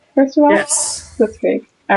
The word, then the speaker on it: Blitzkrieg: Blitzkrieg.